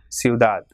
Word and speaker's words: ciudad: Same way, ciudad. It has got 2 syllables, ciudad. So as it is not ending in any vowel or N and S, so the last syllable is stressed. So it will be ciudad.